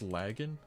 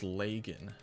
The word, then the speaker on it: Lagging: It's pronounced lagging. Um, it's not pronounced leagen. Like, however you say lag, like you know, your internet lagging. That's pretty much how you pronounce my name.